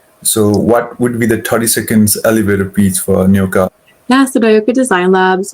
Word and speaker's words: Nyoka: But am I pronouncing the name correctly? It's a Nyoka? Nyoka, yeah.